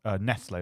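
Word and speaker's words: Nestlé: dad was a kid Nestle was pronounced Nestle and you have was it yeah you'd have Nestles because it was like angiz and now we pronounce it Nestle because that's more Clos probably because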